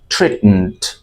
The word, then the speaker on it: treatment: Listen and repeat after me, prescribed, medically prescribed treatment, treatment. আমার সাথে এই অংশটুকু ঠিক মতো বলুন, teacher, treatment, এবং শেষের যে উচ্চারণটুকু MENT, এটুকু উচ্চারণটা খুব শর্টলি বলতে হবে, ট্রিটমেন্ট, management, management, ট্রিটমেন্ট, right?